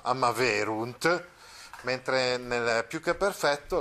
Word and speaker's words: amaverunt: Ecco, quindi una grossa differenza rispetto al perfetto, perché nel perfetto invece la terza persona plurale, la parola è piana, cioè l'accento va sulla penultima, amaverunt, mentre nel più che